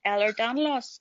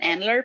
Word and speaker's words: Ehlers-Danlos: And she says it's a thing called Ehlers-Danlos syndrome. It took me a wee while to even be able to say that I couldn't pronounce it. He just kept saying Endler for some reason.